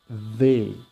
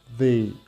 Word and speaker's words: they: They. Presta atenção para pronunciar essa palavra. Toda vez que vocês encontrarem palavras que tenha TH, a gente vai colocar a língua entre os dentes e vai ficar they, ok?